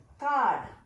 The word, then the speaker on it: card: So second one, card. In card, no approximate sound. Can you guess why it is? Yes, R is silent in this word.